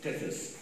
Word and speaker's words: Tethys: So would you show us, how do you pronounce it? Tethys.